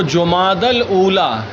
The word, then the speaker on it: جمادی الاولیٰ: ہوگا، پڑھ دیتے ہیں۔ لیکن یہ عربی نام ہے، تو عربی کو عربی کے اعتبار سے پڑھا جائے گا۔ فعالہ کے وزن پر ہے جمادہ، ٹھیک ہے۔ تو جمادی الاولیٰ کیا ہے تلفظ؟ جمادی الاولیٰ۔ جمادی الاخرہ، اس کو جمادی الثانیہ